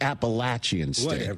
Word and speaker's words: Appalachian State: By the way, it's Appalachian State. If you're going to troll me, say it right.